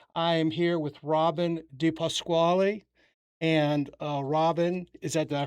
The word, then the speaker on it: DiPasquale: I am here with Robyn DiPasquale. And Robyn, did I pronounce it Yes, correctly?